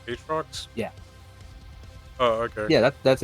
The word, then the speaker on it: Aatrox: Aatrox.